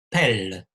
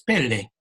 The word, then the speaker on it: pelle: En italiano hay también una palabra que se escribe así, que es pelle, porque los italianos dicen toda la sílaba, ¿no? Los franceses la llaman pelle, no se escucha la E final.